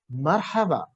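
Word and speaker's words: مرحبا: you have to pronounce marhaba marhaba this is the arabic ascent if you say hello you have to say it should sound like two words connecting to each other this is the way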